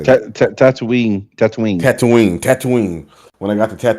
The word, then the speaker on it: Tatooine: Tatooine. Tatooine. When I got to Tatooine and I got to the Tatooine. Yeah, Tattooing, like tattooing your Tatooine.